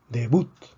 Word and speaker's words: debut: Debut. También es una palabra aguda, lleva la fuerza en la última sílaba porque termina en una consonante que no es ni N ni S.